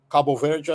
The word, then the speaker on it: Cabo Verde: It's called Cape Verde in English. Cabo Verde, I think, is how you pronounce it in Portuguese.